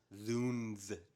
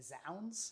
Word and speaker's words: zounds: Is it like Zounds? Is that what it is? How do you spell it? I think it's, Zounds is like how you might read it, but I think it is pronounced Zoons because it's the shortened version of God's wounds.